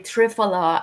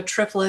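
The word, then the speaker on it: triphala: those who don't know trifa is spelled with a pH so it's t r i p h a l a correct I have Amanda welcome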